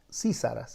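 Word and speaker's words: Sísara: que mencionemos a sisara sisara es con este acento en la en la i así Sara Este capitán del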